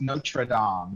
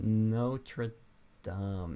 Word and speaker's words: Notre Dame: Is it pronounced Notre Dame? That's what I always pronounced it as. I feel like that could be wrong. I'm just gonna say Notre Dame.